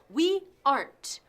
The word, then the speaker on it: aren't: Se pronuncia con una sola sílaba. We aren't.